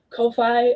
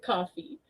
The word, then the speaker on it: Ko-fi: I went years thinking it was coffee and pronouncing it coffee, only for Ko-fi themselves to be like, no, actually it's pronounced this way years later.